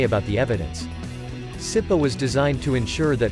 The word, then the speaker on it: CIPA: But the fact that this case deals with classified materials means that the Classified Information Procedures Act, CIPA, pronounced CIPA, get used to it, will be used